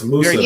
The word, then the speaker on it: musubi: What's musubi? I like dim. Am I saying it right? Musabi or how you say that? Musubi spam.